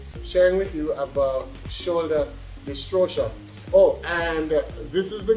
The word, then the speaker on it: dystocia: There's no R in it. Yeah, dystocia.